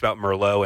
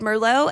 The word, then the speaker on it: Merlot: As I said Merlot, I didn't correct him. I just said Merlot, and he goes, "You don't pronounce the T."